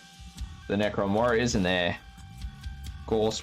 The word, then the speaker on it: gauss: necron warriors and their ghost weapons or gauss as some people pronounce it and i forgot that